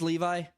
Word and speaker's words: Levi: Zachary Le tell me it's Levi it's not Levy Levy makes more sense